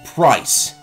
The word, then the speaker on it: Pryce: the gym leader price he's called price I know that rhymes with ice but price seriously I don't